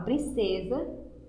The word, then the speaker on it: princesa: Por isso que a palavra princesa se escreve com S, mas ela tem o som da letra Z.